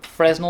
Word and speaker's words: Fresnel: because i've got the fresnel fresno lens that's how you say it i don't know